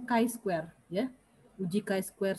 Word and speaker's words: chi-square: uji binomial uji ini tulisannya chi-square tapi kita bacanya Kai Square ya Uji chi-square 1